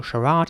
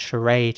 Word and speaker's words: charade: So charade is quite British and charade is more American.